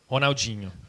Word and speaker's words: Ronaldinho: Ronaldinho.